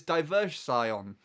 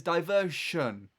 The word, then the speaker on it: diversion: go and follow this diverse Scion. Or you got television. No, that's not how it's said. It says diversion. Literally shun, Sean. There's not too much of a difference there.